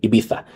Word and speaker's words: Ibiza: Yeah, say it like they say it. Ibiza. In Ibiza.